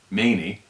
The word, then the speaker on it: Khomeini: same month November 4th Ayatollah Khomeini pronounced Ayatollah many allowed for 66 hostages